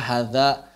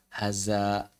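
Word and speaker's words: هذا: Misalnya hadza, banyak orang yang ngajar bahasa Arab dibaca haza.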